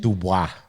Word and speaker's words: Dubois: Dubois. Yeah, Dubois. It's spelled Dubous and aviation, and that's where I learned to fly.